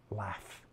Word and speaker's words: LAPHF: That's likely to be changed as soon as they realize the acronym would be pronounced LAF.